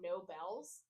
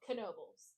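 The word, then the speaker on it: Knoebels: how it's spelled and I thought it was called No Bells he's like no no no it's called kenoby I was like okay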